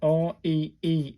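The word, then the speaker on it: り: R-I, pronounced like the R-E-E in reef. So this is a re.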